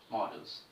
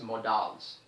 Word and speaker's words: modals: There are many students who pronounce this word as modals. So students, make sure that the pronunciation of this word as modals is absolutely wrong. You have to pronounce it as models.